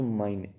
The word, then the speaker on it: mein: Articles बनाए जाएं, सो इश will change to माइन इन masculine. अगर वो मस्कुलिन है मीन्स मेल जेंडर की सेंस दे रहा है, so that will change to माइन, MEIN, माइन।